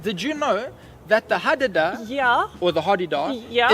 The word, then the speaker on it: hadada: hadada? Yes, the hadada. It's pronounced with 3 A's. There's 3 A's in there. Although Right. I've heard some people call it the hardy-dar.